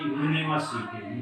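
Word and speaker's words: university: हमको प्रोनाउंसिएशन करना है, उच्चारित करना है, तो इसको क्या पढ़ते हैं दोस्तों, तो हम बोलते हैं यूनिवर्सिटी, यूनिवर्सिटी बोलते हैं, यूनिवर्सिटी बोलते हैं।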